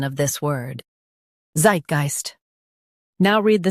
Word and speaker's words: Zeitgeist: Zeit geist Zeitgeist Stress the Zeit syllable and keep geist smooth.